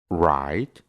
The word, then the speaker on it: write: después tiene una R, solo vamos a pronunciar la R y no vamos a pronunciar la W. Por ejemplo, write, que significa escribir, wrong,